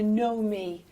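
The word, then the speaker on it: Knowme: And now, Sam mentioned there a Nomi, folks, and Nomi is spelled K-N-O-W with a capital M-E, so it's a Nomi.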